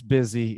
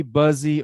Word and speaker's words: busy: i'm sorry that it's busy it should be buzzy or boozy or something but it's busy unfortunately busy busy yes okay and